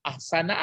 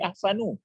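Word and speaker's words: أَحْسَنَ: Lalu di sini apa bacanya? Ahsana, ahsani, ahsanu. Ahsana. Kenapa ahsana? Karena maf'ul. Ya, menjadi maf'ul.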